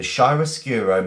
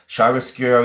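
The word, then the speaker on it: chiaroscuro: Shyroscuro is Italian. Yes, it is. It was defined by Italian painters. Yes, it was. Um, excellent. Okay, Shyroscuro.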